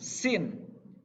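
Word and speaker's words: س: Sambil menyengir, harus sambil senyum biar lebih mudah gitu ya.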